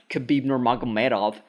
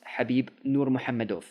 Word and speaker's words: Khabib Nurmagomedov: That's how you say his name, by the way. It's not Khabib Nurmagomedov. No, it's Habib Nurmagomedov.